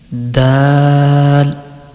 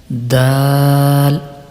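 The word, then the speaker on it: د: the letter dal is pronounced when the tip of the tongue touches the roots of the upper two front teeth and sound it will be like dal dal okay next letter the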